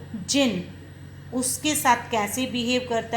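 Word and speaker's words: djinn: दीजै आए double and और इसकी प्रनंसीएशन है जिन यह डिश साइलेंट है कौन जिन बोलेंगे जिंकून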